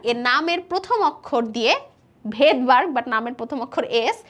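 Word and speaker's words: Svedberg: জিনিসটাকে আমরা হচ্ছে ভেদবার্গ, একটু খেয়াল করব উচ্চারণ কিন্তু ভেদবার্গ বা ভেদবার্গের নামের শুরুটা হয় কিন্তু এস দিয়ে, উচ্চারণ কিন্তু ভেদবার্গ বাট নামের শুরুটা হয় হচ্ছে এস দিয়ে।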